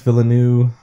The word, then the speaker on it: Villeneuve: Denis Villeneuve... Is that pronounce his name?